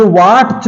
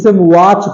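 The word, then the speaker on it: watch: है अगला है वाट ये वाट च देखा जाए वाट च लेकिन इसे क्या हम वाट च पढ़ते हैं वाच पढ़ते हैं क्या पढ़ते हैं वाच पढ़ते हैं वाच इसमें टी साइलेंट है ठीक है अगले में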